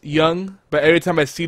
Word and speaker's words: Jung: Every time I read his name, I want to say Jung, but it's Jung. Yeah, but it's German, so that's why it sounds different. Yeah, no, I know it's Jung, but every time I